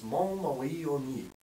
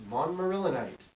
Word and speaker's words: montmorillonite: The French pronunciation of the clay we use is Montmorillonite. And in English, it's Montmorillonite. Montmorillonite. A little bit boring to say it that way.